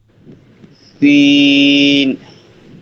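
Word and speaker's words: سين: হ্যাঁ জুলিয়াস ভাই বলেন এটা সিন আরো বাতাস বসতে হবে সিন শিন আচ্ছা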